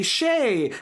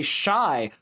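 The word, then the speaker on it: Shai: week I would say Shay and then I would freak out and say shy but I was right the first time this is why you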